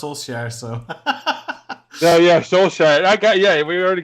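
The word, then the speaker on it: Solskjær: I already had to teach him how to pronounce saier so oh yeah soul Shire I got yeah we already got if if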